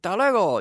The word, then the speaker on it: hasta luego: and I say what you're supposed to pronounce every vowel every letter but you say dollar goal you don't say hasta luego so it's no wonder